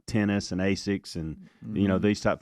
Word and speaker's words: Asics: but I had not I had never heard of that company pronounced Asics until this year so that is interesting I have never I haven't heard that either I tried to argue with him it turns out they were right you know you've talked